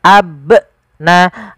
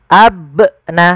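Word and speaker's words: أَبْنَاءَكُمْ: Contoh abnaakum yang kedua menambahkan hamzah ab na abna. Ah ini salah juga harusnya abna.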